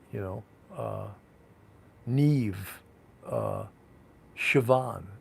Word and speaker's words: Siobhan: know uh neve uh siobhan siobhan is spelled like s-i-o-b-h-a-n who would know that the pronunciation is siobhan right not me you